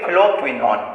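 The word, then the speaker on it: phylloquinone: Okay, pronunciation will be phloquinone.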